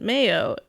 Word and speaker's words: Mayo: The name is from the Irish pronunciation Mayo, much like the condiment.